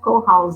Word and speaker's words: co-house: É co-house? É co-house, né, que é assim que pronuncia.